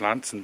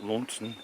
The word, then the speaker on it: Launceston: It's pronounced Lanson, by the way, not Launson or Launceston. Lanson. From the Cornish Landstefan.